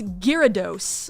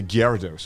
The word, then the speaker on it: Gyarados: Because in Japanese it's Gyarados.